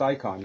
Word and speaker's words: Icahn: is done laughing correctly it pronounced icon yeah yeah okay Carl Icahn who's acquired a pretty